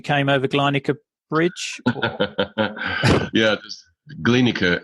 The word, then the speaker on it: Glienicke: over to Annika bridge Glenn occur it's pronounced by the way just a small point you just read and I thank you yeah the glienicke bridge they or a